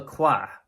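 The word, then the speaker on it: Quoist: in 1970s named Michel qua qua is spelled Q u i s t for those of you who don't speak French so mishaa and he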